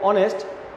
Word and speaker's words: honest: And honest, okay, honest.